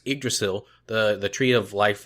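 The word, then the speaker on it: Yggdrasil: an earlier podcast that we see it's actually pronounced a drasil the The Tree of Life that flows throughout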